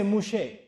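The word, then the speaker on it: Moshe: does Musa me and they don't say Musa in Hebrew they say mouche so torah to musa they said taurat mouche that's how they pronounce it I said what does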